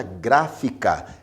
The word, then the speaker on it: gráfica: A palavra gráfica é uma proparoxítona, porque a sílaba mais forte, a sílaba tônica, é gra, a primeira sílaba, a antepenúltima sílaba no caso.